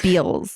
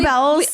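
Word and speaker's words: Bealls: And if you know how to spell Bells if you know how to pronounce Bells properly, you know you're from South Texas, right? Everyone else has Beals. Yes. Exactly. It's Bells.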